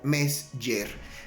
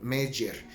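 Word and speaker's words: Mezger: a un autor que se le conoce como Mesger. Se escribe M-E-Z, G de gato, E de elefante, R de ratón. Mesger.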